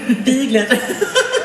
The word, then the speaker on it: Bilgert: Yeah, how is it pronounced? That's Bilgert.